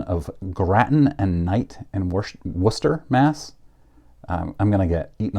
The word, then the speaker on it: Worcester: the toys division of Gratton and Knight and Worcester Mass I'm gonna get eaten alive by Boston people for almost pronouncing Worcester wrong and the father was believed